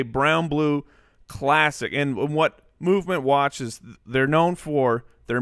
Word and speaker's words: MVMT: We want to thank MVMT, pronounced Movement.